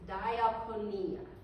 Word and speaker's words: diakonia: The Greek word for what Martha is doing is diaponia. It's spelled d i a k o n i a.